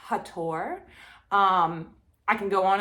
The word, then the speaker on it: Hathor: is isis and hathor th being is an american thing and that was changed on purpose her name is not hathor it's hattor um i can go